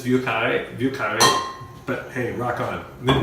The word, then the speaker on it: Vieux Carré: It's Vieux Carré.